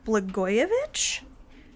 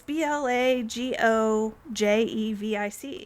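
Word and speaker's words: Blagojević: So in 1725, in Serbia, a man named Peter Blagojevich, I think I'm pronouncing his name correctly. I could be screwing it up. But it's Blagojevich. Oh, well... Sure, Blagojevich.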